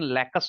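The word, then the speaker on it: lacustrine: Lake स्ट्राइन असल में इसका प्रोनाउंसिएशन लेकस होगा। लेकस लेकस स्ट्राइन।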